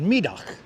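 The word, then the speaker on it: Middagh: us Brooklynites call it mug. Good to see you, Marty Lewis. Welcome. Megastrat. That's right. And I'm pronouncing that correctly, right? Middag. Middag. But us Brooklynites call it Mug Street.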